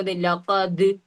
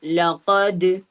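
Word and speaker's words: لقد: പക്ഷെ അതേപോലെ അവിടെ ദാലിന് സുക്കൂൻ വന്നപ്പോ ലഖദ് അവിടെ ലഖദ് എന്ന് നമ്മൾ ഉച്ചരിക്കുന്നത്. മറിച്ച് എങ്ങനെ? അവിടെ ദാലിന് സുക്കൂൻ ചെയ്യുമ്പോ ശബ്ദത്തിന് എന്ത് ചെയ്യണം? കുറച്ചും കൂടി ബാസ് പോലെ ഒരു മുഴക്കം എന്ന രൂപത്തിൽ എന്ത് ചെയ്യണം? ഉച്ചാരണത്തിൽ കൊണ്ടുവരിക. അപ്പോ ലഖദ്.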